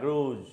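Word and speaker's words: grudge: उसे क्या बोलते हैं ग्रूज ठीक है जी आर यू जी ए रूल तो दी साइलेंट होगा इसमें ठीक है जिसमें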